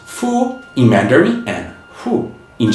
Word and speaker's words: 父: women are associated with skirts this character is pronounced Fu IM Mander and Fu in Japanese and also